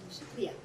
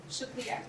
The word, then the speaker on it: Shukriya: Shukriya. Shukriya.